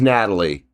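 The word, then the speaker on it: Nathalie: Oh, the H is silent. It is Natalie. Okay. I'll remember that. Natalie rolls off the tongue a lot fucking easier. It really does, than putting that TH in there.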